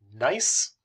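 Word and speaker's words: gneiss: get a metamorphic rock called nice is how that's pronounced so all three of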